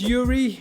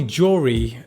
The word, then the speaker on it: Joeri: I know my name is spelt J-O-E-R-I that's just a Dutch way of spelling "Yuri". It's basically Y-U-R-I. It's a Russian name. We spell it J-O-E-R-I. So any Dutch person sees it says, "Joeri'.